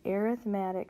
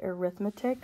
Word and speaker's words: arithmetic: A sequence, which increases or decreases by the same number, is called an arithmetic sequence. Okay, so we usually pronounce this word arithmetic, but when we're talking about sequences, we use arithmetic.